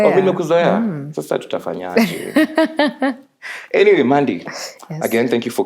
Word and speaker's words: Maandy: Anyway, Maandy. Hi. Superstar. Remember ni superstar. Hi. That's the correct pronunciation.